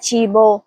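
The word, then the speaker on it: cibo: اب تیسرا لفظ ہے چیبو. اس کا صحیح تلفظ ہے چیبو. یہاں سی کے بعد ای آیا ہے اس لیے اس کی آواز چے کی ہوگی, اور چیبو کا مطلب ہے کھانا.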